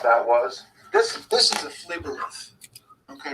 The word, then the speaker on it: phlebolith: So the best way to spell that for me, phlebolith? Yeah, PHLEBOLITH.